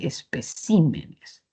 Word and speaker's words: especímenes: Esa mayor fuerza de voz, esa sílaba tónica que estaba en P de espécimen se ha movido así de especímenes.